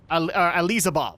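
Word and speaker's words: Alizabal: disciple of hatred and here is her mistress ELISA ball that's what that's actually how you say it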